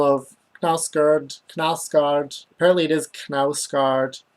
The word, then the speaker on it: Knausgaard: Apparently it is Knausgaard. Apparently we used to pronounce the K at the beginning of things like Kno, but we stopped.